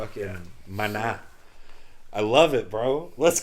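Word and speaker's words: Maná: 1992 a band called Mana uh and don't forget the the ascento the accent on the last a Mana is it m-a-n-a-m-a-n-a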